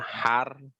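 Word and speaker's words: حرف: Ya, kita bacanya fi'il, tapi aslinya fi'. Fi'lun ya. Fi'lun. Satunya Huruf. huruf atau harfun Harfun.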